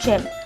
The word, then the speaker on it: Yim: Number 3 - I Fine..Thank You..Love You A Japanese girl, Kaya, dumps her Thai boyfriend Yim (pronounced "Jim"), because he can't speak English and Kaya can't speak Thai.